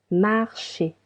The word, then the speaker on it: marchez: Vous marchez. Marchez. E and Z sounds E.